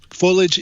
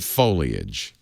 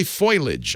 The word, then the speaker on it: foliage: slide it and you can see how the foliage is changing interesting am i pronouncing it correctly I remember last year you